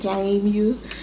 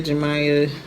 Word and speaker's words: Jamie: That's how you say it, Jamie. I know I hear Jamia, Jemiah, all of the things, but it's pronounced Jamia, and some of my family call me Jamie.